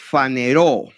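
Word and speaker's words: φανερόω: Esa palabra manifestó es una palabra griega que es faneró. se escribe con ph fa ne ro se manifestó que significa pues apareció, se hizo visible, se hizo visible de de esta manera.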